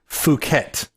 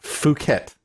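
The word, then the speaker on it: Phuket: off the coast of was fukat that is how you say it fukat not how you might think it's pronounced anyway so uh yeah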